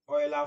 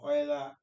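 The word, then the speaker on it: Euler: Oiler to rectangular please the pronunciation of that this word depends on the school that you attended I went to KU said like English teachers you know you understand so so I call it Oiler yeah so depending on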